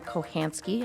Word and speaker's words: Kochanski: We're moving on to 3B, which is our interview of Miss Catherine Kochanski. I have clarified with her that that is the proper way to pronounce her last name.